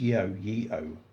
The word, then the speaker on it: Yeoh: Is it pronounced Yeoh?